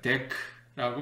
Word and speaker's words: Deque: 발음할 수 있죠 근데 우리 컴퓨터 하는 사람들끼리 약속을 한 거 같아 이거를 발음하기를 데크라고 발음하기로 했습니다 데크리스 올드드 컬렉션 다른